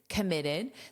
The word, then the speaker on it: committed: It is committed. This is always in the ed form because it functions as an adjective. Committed. ID with that id pronunciation.